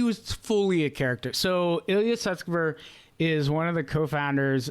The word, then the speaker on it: Ilya Sutskever: Ilya Sutskever?